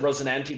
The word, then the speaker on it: Rosinante: I pronounce it Rosinante because that's the name of the horse in the Don Quixote story.